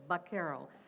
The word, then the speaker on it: vaquero: Now, when the Americans show up, they notice this is how the Spanish pronounced it, and especially in California, it was more that kind of a Sevilla accent. So it sounded like a B instead of a V, so vaquero.